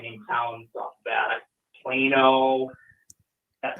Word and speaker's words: Plano: Plano. That's how it's pronounced. You might pronounce it Plano, but no, it's Plano.